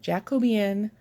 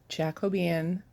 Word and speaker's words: Jacobean: I showed the Leisure Arts pamphlet with the Jacobean Bell Jacobean Jacobi in let me say it right Jacobean they'll pull that saw on the country stitchers